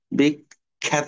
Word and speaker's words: বিখ্যাত: হবে অদ্বিতীয় মানে ইউনিক বিখ্যাত দেখো আমরা বলবো না বিখ্যাত বিখ্যাত বলব চফলা আছে খ্যা এইযে খ্যা সাউন্ড নিয়ে আসতে হবে খ্যা বিখ্যাত হ্যা বিখ্যাত না কিন্তু বিগ